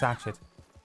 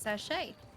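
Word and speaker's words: sachet: I see how upset how upset she get about Cholera, but she don't give a about Satchet.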